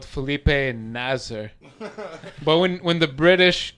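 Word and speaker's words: Felipe Nasr: who retired, and there's a young guy called Felipe Nazer, but when when the British commentators always say it, they're like, "Filipe Masa, please say Felipe Nasser." You know how they pronounce as R as in a masa and nasr.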